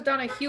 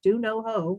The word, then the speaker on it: Donahoe: how to spell it do no hoe like gardening we are still